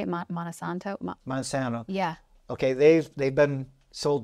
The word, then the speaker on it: Monsanto: Monsanto.